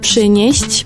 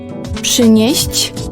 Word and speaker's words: przynieść: Proszę przynieść mi piwo. Bring. Przynieść. Bring. Przynieść. Oh, that's difficult to pronounce.